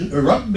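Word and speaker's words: رب: The syllable is Rabbi is 2 syllables, so it's Rabb. You got a shadda here, so one of them, that means there's 2 of them, and the first one is a kun, Rabb.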